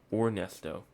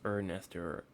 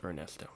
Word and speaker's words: Ernesto: names for 2024 because I want to make sure I'm saying Ernesto or oresto um right and um yeah it's Ernesto yeah it is Ernesto all right Ernesto is is the is how you pronounce it so we will be